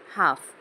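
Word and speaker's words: half: सुरुवातीला स्पेलिंग बघणार आहोत हाफ एल सायलेंट आहे हाफ त याच्यामध्ये शेवटी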